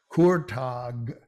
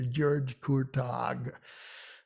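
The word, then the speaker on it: Kurtág: The hard G at the end is pronounced as g sound, Kurtag, and that's not unfamiliar. It's the GY that's unfamiliar, George Kurtag.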